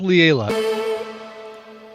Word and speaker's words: Lila: out from Lila Moss I think it's pronounced Layla sometimes people love